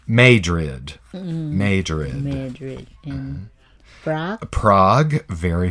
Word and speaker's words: Madrid: famous city but there's a city called Madrid in Missouri but they pronounce it made rid major in fat Prague